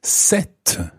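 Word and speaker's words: cette: spelled c e no the feminine version of this is set and it's spelled c e double t e set set so for example we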